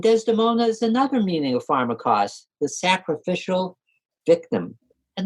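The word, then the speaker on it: φαρμακός: Now, the Greek noun pharmakos has nuances of meaning depending on whether the accent's on the first or the last syllable. When the accent's on the first syllable, pharmakos means poisoner, sorceress, magician.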